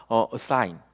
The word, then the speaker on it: assign: 이런 식으로 되는데 사실은 단어가 assign 이게 되는 거죠. 강세가 지금 I 부분 쪽으로 가면서 발음이 약하게 들리는 것이죠.